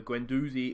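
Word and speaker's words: Guendouzi: the day that time apparently I don't say the D when I pronounce the name so Gwen doozy is on the field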